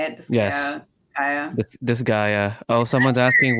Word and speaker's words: Disgaea: Disgaea.